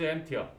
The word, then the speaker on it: empty: We found that the room was empty.